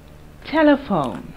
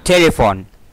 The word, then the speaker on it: telephone: Telephone. Telephone. T. E. L. E. P. H. O. N. E. P. H. We pronounce it as F.